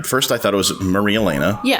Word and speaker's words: Marielena: I say Maria Elena.